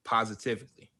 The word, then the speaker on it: positively: __ ] positively positivity it don't have a d in it positively but not not positive but it's positively it's four syllables not five positive you're saying positively